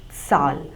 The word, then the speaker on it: Zahl: call number in German we see it as Sal so the singular uh would be Sal and